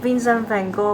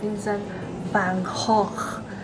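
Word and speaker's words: Vincent van Gogh: visiting Van Gogh Museum By the way, the pronunciation of "Vincent-Ven-Goh" is wrong. I checked online and it should be read as "Vincent-vaan-hawk-ke". It is still very difficult to pronounce.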